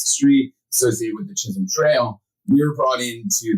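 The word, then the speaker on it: Chisholm Trail: And can you tell us a little bit about the was it Chisum Trail? Is that how you say it? Yes.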